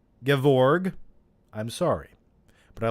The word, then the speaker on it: Gevorg: go all right uh gavorg menstruas kyanion i know i mispronounced that i'm sorry gevorg i'm sorry but i